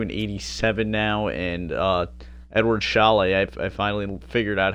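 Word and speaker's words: Šalé: Shane Wright up to an 87 now, and Edward Chalet, I finally figured out how to say his name. It's Edward Chalet, not Sale.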